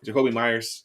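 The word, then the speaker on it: Jakobi Meyers: Jacoby Myers.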